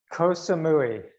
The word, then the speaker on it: Koh Samui: Have I pronounced that correctly? Koh Samui.